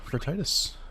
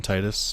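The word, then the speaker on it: Tidus: I call him Titus because tide and his whole theme is water. Titus is how some people have pronounced it.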